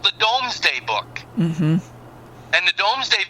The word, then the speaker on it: Domesday: And it's pronounced Domesday, but I think it's written Doomsday.